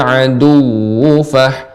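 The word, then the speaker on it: العدو: Ya, dibaca dengan pendek, namun karena waw yang bertasydid di nabr, namanya ditinggikan suaranya. Jadi seperti ini pengucapannya, humul aduwwu fahzarhum.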